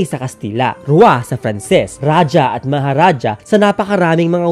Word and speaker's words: raja: At tamang narinig nyo, raja, hindi raha. Pagkat ang raha ay ang paraan ng pagbigkas ng mga Kastila. Kaya ang mas angkop at mas tamang pagbigkas ito ay raja, hindi raha, raja.